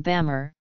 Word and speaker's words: Bamar: Burma is derived from Bamar, the colloquial form of the group's name. Depending on the register used, the pronunciation would be Bama or Myama.